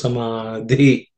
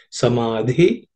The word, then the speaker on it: समाधि: So it should be pronounced as samadhi, samadhi, vidhanam. Okay, so the dha and dhi are aspirated, so it requires a little more air when you pronounce them.